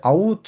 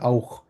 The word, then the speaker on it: auch: আরেকটা হচ্ছে আউচ না বলে এটাকে বলেছে আউখ, খ উচ্চারণ করে।